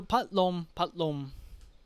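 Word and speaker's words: พัดลม: So pat lom. So why lom? Lolling, low class, moma as an ending consonant gives you life ending. So low class column, no, not column. Low class row live column mid sound lom.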